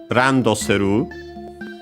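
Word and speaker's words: ランドセル: the term Uh uh randosu uh accented by the way on the uh set uh randosu which is uh a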